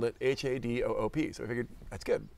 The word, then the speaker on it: Hadoop: and we compared and we both spelled it h a d o o p so we figured that's good other people will